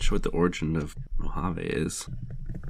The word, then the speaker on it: Mojave: of audio after talking about how good the mahav harvey beta is can you just pronounce that for me oh mojave how do you remember that uh i mean